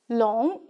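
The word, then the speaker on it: 龙: these two chinese characters this one is pronounced as long meaning dragon this is pronounced as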